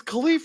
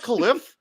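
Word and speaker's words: Kalif: Also, Mike Tirico, it's Khalif Raymond. It's not Khalif.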